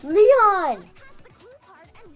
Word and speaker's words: Leon: You might have It's Leon.